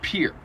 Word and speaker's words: Pierre: r I think I would assume that was Pierre yeah same yeah no exact same what is it pronounced uh in anywhere but South Dakota Pierre in South Dakota it's Pier here okay it's the state capital population ten